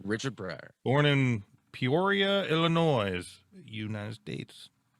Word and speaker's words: Illinois: breyer born in peoria illinois united states it's there's you don't pronounce the s at the end it's just illinois hence hence my look